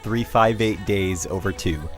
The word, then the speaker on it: 358/2 Days: and before we go on yes it's actually pronounced 3-5-8 days over 2 think about it 3-5-8 as i'll call it